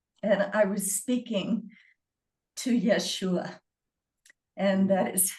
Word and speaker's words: Yeshua: And I was speaking to Yeshua and that is how he told me to pronounce his name.